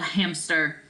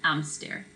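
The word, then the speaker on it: hámster: so it's not Ella hamster right the auxin is sort of on the a because the H is silent so I'm stare there's Nemo Ella's fish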